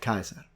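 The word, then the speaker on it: Caesar: level of Education they would pronounced it Kaiser so that one to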